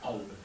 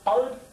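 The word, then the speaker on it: قلب: J'ai dit en arabe, le terme principal pour le cœur, c'est el-qalb. Prononcé alb parfois, qalb, en écriture arabe.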